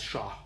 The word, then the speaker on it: shah: semantic words but it's most likely pronounced as sha that is one of